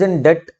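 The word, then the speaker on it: indebted: next D company इस इन डेट होता है बी साइलेंट होता है एंड हज बिन अनेबल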